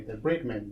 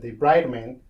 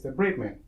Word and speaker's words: debridement: said the right way, debridement, because one day somebody said debridement, but debridement is to remove a bride from a man. So that's not the right way to say it. It's debridement.